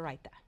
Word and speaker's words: raita: And the next two dishes, say them again because you pronounce them much better than me. So we're making a brown rice pilaf. Pilaf. And we're making cucumber raita.